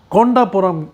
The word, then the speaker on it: कोंडापुरम: और ये जिस गांव का नाम इन्होंने बताया अभी कि कोंडापुरम ऐसा करके, कोंडापुरम उसका असली नाम है, जो सही नाम है, जो प्रोनाउंसिएशन है, वो कोंडापुरम है।